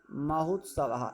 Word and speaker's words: महोत्सव: लिखा है महोत्सवा, ये क्या लगा हुआ है, महोत्सव, इसको पढ़िए, महोत्सवा महोत्सवा महोत्सवा। देखिए ओ के बाद ऊ का उच्चारण आ रहा है कि नहीं आ रहा